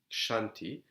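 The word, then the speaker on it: Kshanti: Shanti KS I added the age because it's pronounced Shanti it is translated as patience sometimes tolerance so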